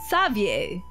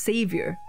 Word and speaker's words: Xavier: Xavier? Is that how pronounced? I always thought that was pronounced Savior. Xavier, okay.